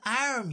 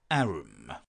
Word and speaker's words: arm: "Sure, it's an arm, your honour." He pronounced it arum.